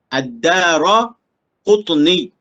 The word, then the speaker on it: Ad-Daraqutni: Ad-Daraqutni. Itu cara baca dia.